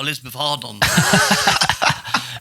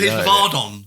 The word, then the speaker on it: Elizabeth Arden: And he says you rubbed it on, and he goes, oh, Elizabeth Hardon. He's actually used it. Yeah. That's crazy. Elizabeth Ardon, isn't it? Yeah. Elizabeth Ardon, A-R-D-E-N, but now weird pronounced, isn't it? Ardon.